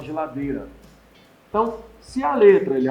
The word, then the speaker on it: geladeira: o caso mais certo que o i não é nem pronunciada a gente fala geladeira então se a letra